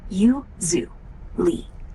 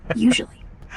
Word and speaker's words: usually: Accent on the first syllable. You, zoo, Lee. Usually.